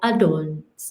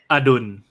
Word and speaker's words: Adul: many names, Thai names I'm thinking of, like Adul's name, right? Okay, did I say that right? You say his name. Adul.